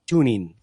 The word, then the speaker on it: TuneIn: descarga una aplicación que se llama tuning se escribe TuneIn TuneIn y la al descargarla